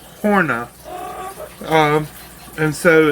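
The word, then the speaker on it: höna: that the word h-o-n-a the o has two dots up above it in sweden the original language of this breed of chicken and she says that it is pronounced horna um and so it's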